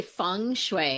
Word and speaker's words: feng shui: Kim, what drew you to doing feng shui? Am I saying it right? It's actually feng shui.